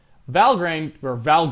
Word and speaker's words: Valgrind: Valgrind, I believe is how it's pronounced.